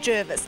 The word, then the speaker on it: Jervis: her from the harbour the pronunciation of Jervis Bay has always been controversial well just for the record officially it is now Gervais not Jarvis bait now we've got that